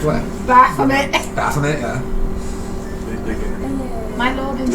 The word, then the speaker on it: Baphomet: Excuse me, Asmongold says Bahamut, so you need to Bahamut? start. No, it says Baphomet.